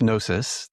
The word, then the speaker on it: Gnosis: Gnosis. Is that how you say that? Yeah. So it's nosis. The G sound. Okay. So you don't pronounce the G.